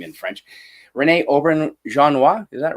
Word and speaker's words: Auberjonois: But that actor, Rene I'm good luck pronouncing his name in French. Rene Auberjonois, is that right? Auberjonois, something like that.